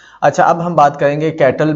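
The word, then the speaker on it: Cattell: कैटल, अच्छा ये कैटल नहीं है, कुछ लोग इसको कैटल पढ़ते हैं, कुछ लोग इसको कटेल पढ़ते हैं। ठीक है, गूगल पे जाएंगे तो वहाँ पर प्रोनाउंसिएशन इसकी जो होती है ना कटेल होती है, तो हम भी कटेल पढ़ेंगे।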